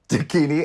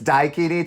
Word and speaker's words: Daikini: Dakini. It's Daikini Tai. Get it right? Excuse me, my pronunciation.